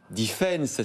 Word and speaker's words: DFNS: et directrice générale de Defense. Ça y est, je sais le dire maintenant. C'est écrit DFNS et ça se prononce Defense.